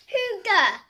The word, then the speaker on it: hygge: It's pronounced Hygge. Right, Hygge. Danish verb is from Denmark. Pronunciation, very difficult. It's bordering impossible for non-natives.